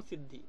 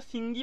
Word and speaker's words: সিদ্ধি: তার সিদ্ধি গ্রামটা কিন্তু আসল নাম সিদ্ধি কিন্তু ওটাকে সিঙ্গি বলেও কিন্তু উচ্চারণ করা হয় বাবা বা ডাকা হয়